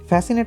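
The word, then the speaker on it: fascinate: word যে লেটারটা আছে সেই সি লেটারটা এখানে আমাদের সাইলেন্ট এখানে আমরা কি উচ্চারণ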